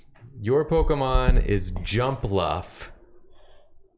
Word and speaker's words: Jumpluff: It's your Pokemon is Jumpluff. Jumpluff. J U M P L U FF. It's pronounced jump Luffy.